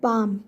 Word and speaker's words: palm: L is here silent in word palm.